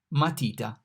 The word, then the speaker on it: matita: M, matita. The M here is pronounced like M in Mike, matita.